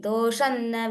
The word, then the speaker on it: दोषन्न: While pronouncing with sandhi, doshanna vijnatavan.